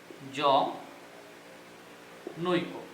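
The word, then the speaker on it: জনৈক: আবার ওই ধ্বনির ক্ষেত্রে যদি আমরা নিই জ নৈক, যে এর উচ্চারণটা হবে এরকম জ নৈ কো, অর্থাৎ ওই কারের জন্য বা ওই ধ্বনির জন্য এখানে বর্গীয় জোর সাথে নিহিত অধ্বনিটির স্বাভাবিক উচ্চারণ বজায় থাকবে।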